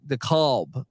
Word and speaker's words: DeKalb: How do I pronounce that, by the way? I always get some people DeKalb. Okay. DeKalb.